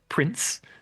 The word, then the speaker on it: Princ: Now, I believe I'm correct in saying that this is pronounced Prince.